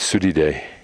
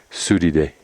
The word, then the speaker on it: Surire: its a whole bunch of Reas down there pronunciation is sui day sui day now those are the volcanoes that we were